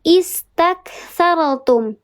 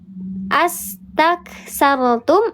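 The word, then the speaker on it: استكثرتم: Kalau kita mulai dari sini, cara bacanya istakthartum atau astakthartum atau ustakthartum. Is, betul. Is, kenapa disebut is? Kenapa dibacanya is bukan as? Bukan us. Kenapa dibaca istak bukan ustak? Karena huruf ketiga berharokat fathah.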